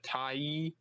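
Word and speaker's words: Tyee: I think, published by Brian Carney in the Tai. That's how you pronounce it.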